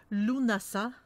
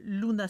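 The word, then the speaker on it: Lughnasadh: des récoltes de l'été on dit que ça se prononce lounas a vraiment une prononciation tu viens de l'anglais je sais que ça s'écrit et beaucoup de l'étang ça s'écrit vraiment lughnasa d' mais on dit on di luna ça on l'appelle aussi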